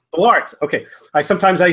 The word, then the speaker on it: Bollaert: I forget how to pronounce your last name. Please share that with me. It's Bollaert. Bollaert.